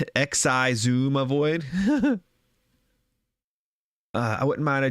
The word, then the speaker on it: Xisumavoid: about my opinion um it's pronounced X I zoom avoid uh I wouldn't mind